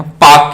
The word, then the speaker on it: Palk: तो इंडिया और श्रीलंका के बीच में है पाक की खाड़ी। इसे पाक स्टेट कहते हैं। स्पेलिंग याद रखना, PALK, पाक स्टेट।